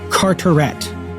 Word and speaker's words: Carteret: should have been called lord Carteret so pronounced in English not in French and that he's not from frost he's from the Channel Islands which are so much closer to France than England which is most closer to France than England but he still pronounces it curent and who I've been